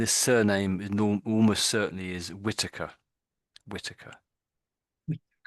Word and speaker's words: Whittaker: So Jack and this surname almost certainly is Whitaker.